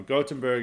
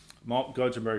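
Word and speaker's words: Göteborg: like gottenberg you know gottenberg it's like the proper way of pronouncing it I didn't realize this they don't pronounce the G they pronounce a g very differently in Swedish than versus German uh anyway gottenberg is like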